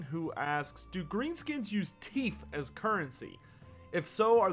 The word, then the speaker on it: teef: So focusing on the more cultural aspect, yes, teef, or which teef, but of course Greenskins pronounce it T-E-E-F, is the main currency